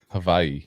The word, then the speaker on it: Hawaii: and Hawaii Hawaii Hawaii that's how they say it there actually Havi I think there's a v in it I was about to